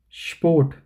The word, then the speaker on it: Sport: You should pronounce s as sure and then p. So sport, okay, and not short.